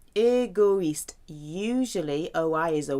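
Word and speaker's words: égoïste: the eye that means those two dots tell you to say pronounce all the letters egoist usually oh I is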